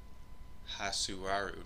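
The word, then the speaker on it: Hatsuharu: video I'm not sure apparently it's not hat ajt its ha and then sue and then aru may be so hot to our but yeah anyway that's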